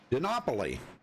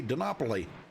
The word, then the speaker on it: Dinopoli: told me last night that's how you pronounce it. So they were in the TeamSpeak with me, and they said, say it just like Monopoly. That's okay. Works for me, Dinopoli.